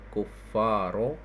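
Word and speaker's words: الكفار: Inna haulail kuffaro. Iya. Kuffar kufar ya. Kuffaro karena badal dari haula ya.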